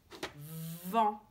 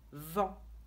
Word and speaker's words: vent: Si on dit d'abord V et on accroche, on ne s'arrête pas avec en, ça fait vent. Et voilà, on a déjà lu la première syllabe, vent.